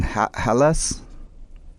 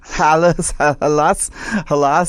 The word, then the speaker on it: Hallas: Hallas? Did I say it right? Yeah, that works. Hallas.